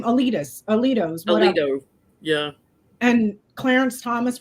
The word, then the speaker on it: Alito: it was so Scalia's is that how you pronounce his name? Alito's Alito, yeah.